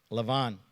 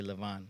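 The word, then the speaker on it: לבן: hear about Laban okay Lavon funny we say Laban in Hebrew they say Lavon like Jacob is actually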